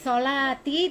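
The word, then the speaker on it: صلاتي: Ya, jadi solati, tinya bukan pendek ya.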